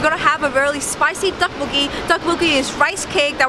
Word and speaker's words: tteokbokki: So how do you pronounce tteokbokki?